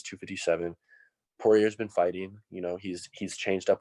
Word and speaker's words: Poirier: I don't even know how do you pronounce it? Poirier, yeah. Poirier.